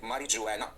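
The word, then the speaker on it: marijuana: लिखते हैं ऐसे हैं, मारिजुआना, जी आता है, बोलने में ये जी नहीं प्रोनाउंस करते, मारिजुआना बोल देते हैं.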